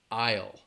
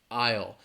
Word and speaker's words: aisle: one aisle all right it's one syllable aisle aisle that s is a it's a silent letter you're not going to hear it aisle all right another